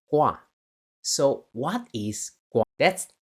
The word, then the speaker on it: Gua: The tri pronunciation in mandaring is called gua.